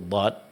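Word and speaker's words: ض: Maka huruf dhad tidak memiliki sifat qalqalah. Berarti dalam pengucapannya di saat dad sukun maka tidak boleh di qalqalakan.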